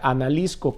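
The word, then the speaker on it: ἀναλίσκω: La palabra consumir viene de un vocablo griego, que se pronuncia analisko, que quiere decir destruir, matar, gastar en lo absoluto.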